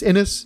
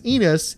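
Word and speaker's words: Ennis: was just recently corrected no it really is inis quit saying enus it sounds like you're saying penis it's like yeah I always thought that too um but it's apparently is inis and I should have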